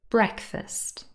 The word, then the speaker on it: breakfast: it is stressed school breakfast two syllables the first one is stressed breakfast comfortable and vegetable have